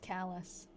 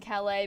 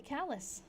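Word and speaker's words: Calais: Actually, it's pronounced callus. I was saying cala because that's what I assumed with like the French pronunciation what it would be, but it's actually callous.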